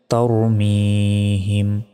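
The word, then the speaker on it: ترميهم: মি হামিম জের হিম তারমিহিম এখানে তার মিহিম অনেকে বলে এটা ভুল বলতে হবে তার ঠোঁটটা গোল হয়ে আসবে তার মি এক সেকেন্ড টান হবে হিম তারমিহিম বা জের বি হা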